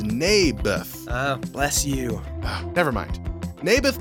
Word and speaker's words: Naboth: I like this little Nabler's guy. You mean Naboth? Yeah, that's what I said. Mayberf. I think you're saying it wrong. His name was Naboth.